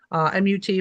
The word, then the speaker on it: mut: If you're not mummified properly, then you can't go on the journey, which then you become a mut, M-U-T, but pronounced mut, which is just kind of like a dead thing that's stuck in transition.